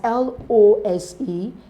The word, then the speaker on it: lose: things yes and that's l o s e l o o s e and l s s so l o s e is lose the changes to z l o o s